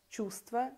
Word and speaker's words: чувство: Лестница произносится без «т», сердце без «д», чувство без «в».